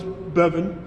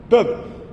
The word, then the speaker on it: Beavenon: Thomas Beavenon. You pronounce his name after heaven. Beavenon.